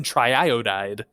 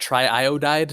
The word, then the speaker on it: triiodide: Pentacarbon triiodide. It doesn't matter how many times I say it. Triiodide never stops sounding crazy. But it is the correct way to say it. It's not triiodide, unfortunately.